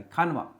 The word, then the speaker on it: खानवा: खानवा D silent होता है। खंडवा बोलते हैं इसको। खंडर नहीं है ये।